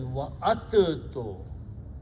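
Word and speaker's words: وَعَدتُّكُمْ: So instead of pronouncing dal and ta, we pronounce ta twice and do not pronounce dal. So this is wa'attu.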